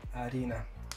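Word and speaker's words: harina: Арина. Хотя пишется Х, но испанцы Х не читают. Так что получается, когда произносится, то говорится Арина.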